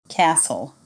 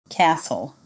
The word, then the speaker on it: castle: me hour honest air silent T listen Castle whistle repeat after me listen Castle whistle common pronunciation challenges